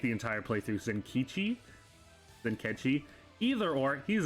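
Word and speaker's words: Zenkichi: she was second by far uh was in kitschy zinke i said it wrong like the entire playthrough senkichi then catchy either or he's an s he's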